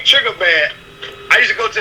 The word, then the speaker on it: Triggaman: And I looked at the one and it said Triggaman, but it's spelled Triggerman.